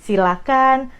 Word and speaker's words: silakan: Jadi, silakan, persilakan, jangan pakai H, itu dari pronunciation-nya. Nah, kalau dari katanya, kalau kita cek ke Kamus Besar Bahasa Indonesia, ternyata kata yang tersedia adalah silakan.